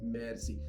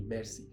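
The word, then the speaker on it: merci: thank you is Mercy can you pronounce Mercy the spelling is m e r c i uh it means thank you Mercy it's like saying magic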